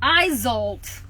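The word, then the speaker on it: Isolt: do you pronounce it i zolt izolt like zoltar zoltar the the wish granter from the movie big um so when it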